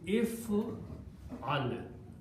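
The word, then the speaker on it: افعل: If al, fa will have a sukoon, ayn will have a fatah, and last letter will have a sukoon again. And the pronunciation will be if al.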